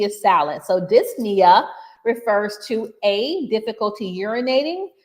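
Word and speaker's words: dyspnea: that refers to muscle let's go to 21 disna refers to and that's spelled d ys p n e a but usually the p is salad so disia refers to a difficulty urinating, b chest pain,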